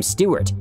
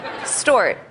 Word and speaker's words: Stewart: Khloe Kardashian doesn't really know how to pronounce the name Stewart. After a while, Jennifer Lopez wanted to correct her. Stort.